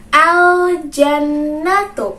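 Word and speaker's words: الجنة: dengan alif lam komariah, maka kita harus bacanya dengan jelas. Berarti teman-teman harus membacanya dengan jelas pula. Bagaimana bacanya tadi? Al-jannatu.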